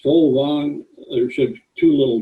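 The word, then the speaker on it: Fåvang: This FAVANG is pronounced Folvang.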